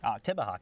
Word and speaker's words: Oktibbeha: It's going to clip the southeastern portion of Oktibbeha County, I believe it's pronounced. Oktibbeha County, thank you.